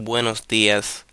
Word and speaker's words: buenos días: Which is the number two, buenos días. That means good morning. So, the emphasis, I mean the the strong pronunciation here is in días, okay?